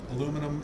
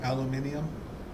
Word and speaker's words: aluminium: one before too yeah aluminum aluminium yeah so they have five syllables in theirs and we have four in the way we pronounce it i'm really glad we